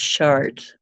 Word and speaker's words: Chartres: short Cathedral you know the one that looks like chartres it's actually pronounced chart now imagine that I